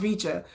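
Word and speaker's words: VCHA: But another member of of V vicha has left. Va is pronounced vicha but another member of vich has left.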